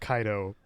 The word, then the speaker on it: Cato: it's it's fine like Cato is pronounced kaido in the proper Latin and nobody including myself